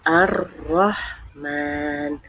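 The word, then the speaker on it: الرحمن: h huruf lam huruf Ro Ha mim Nun dibacanya Arrahman Arrahman Iya artinya maha pengasih contoh dalam kehidupan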